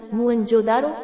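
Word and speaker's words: मोहनजोदड़ो: इनमें से दो नगर बहुत ही महत्वपूर्ण हैं, पंजाब का हड़प्पा तथा सिंध का मोहेंजोदड़ो, मूल उच्चारण मुअंजोदारो, शाब्दिक अर्थ प्रेतों का टीला।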